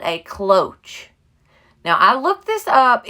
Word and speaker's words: cloche: are selling like crazy this is called a cloche now i looked this up even looked up